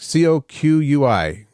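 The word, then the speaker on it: Coquí: Kokui frogs? Coqui.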